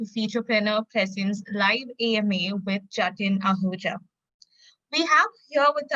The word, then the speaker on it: Jatin: Is it Jatin? Yes, it's Jatin.